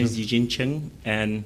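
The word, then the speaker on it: Ch'ng: is Eugene Cheng, and that's how you pronounce a surname without a vowel.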